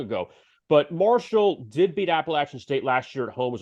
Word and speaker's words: Appalachian State: I do like them getting points now against the Mountaineers of not Appalachian State, but Appalachian State. Yes, they love to pronounce it that way and make everybody aware of that.